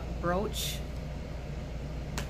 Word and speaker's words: brooch: this brooch I know you're probably supposed to pronounce the word brooch that's probably the proper way to pronounce it I just cannot stand that word like pronounce that way I don't know it's just me I've already I've always said brooch so that's what I'm